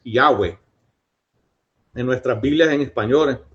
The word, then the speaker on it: Yahweh: y h w eh que los teólogos piensan de que la mejor manera de pronunciarlo es Yahweh.